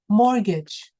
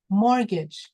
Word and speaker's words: mortgage: Now, this one is mortgage, mortgage. Can you say that? Mortgage. That's right. That's a silent T.